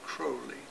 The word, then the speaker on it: Crowley: old crow because apparently crowley's correct pronunciation is cruelly and i'm aware of